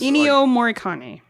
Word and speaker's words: Ennio Morricone: Yes, he's Ennio Morricone.